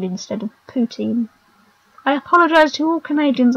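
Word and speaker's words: poutine: a bit like that one time I said paltin instead of poutin I apologize to all Canadians I offended in that I have pronounced words wrong so much yeah I those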